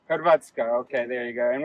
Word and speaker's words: Hrvatska: Horvatsk is the country name. Hrvatska. Hrvatska.